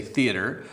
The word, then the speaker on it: theater: it in Canada ari we don't say tyotka which would be French we say theater in America they spell